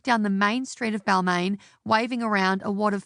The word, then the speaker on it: Balmain: In 2004, I was working at a really shitty dress shop in Balmain, not the European brand pronounced Balmain, rather a suburb in the inner west